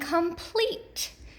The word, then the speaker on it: complete: And this states that the accented syllable for words with the E consonant E pattern is the second syllable. So let's look at these 2 examples. Supreme, supreme, and complete.